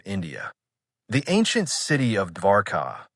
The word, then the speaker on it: Dwarka: The ancient city of Dwarka, pronounced Dwarka, appears in old Indian traditions as a powerful, wealthy city associated with Krishna.